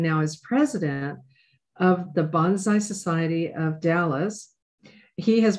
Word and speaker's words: bonsai: and what I'm saying, the proper way to say bonsai is think of the word bone, as in my bones, and then the word sai. So bonsai is the correct way to say it.